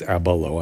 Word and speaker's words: Ablow: ab ablo ab l i pronounced his name like it's abalo I'm sorry for that it's not like Abalone it's there's the book